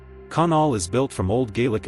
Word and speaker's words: Conall: Pronounced k u n l. Conall is built from old